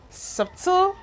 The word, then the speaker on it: subtle: We still have subtle, subtle and not subtle, subtle.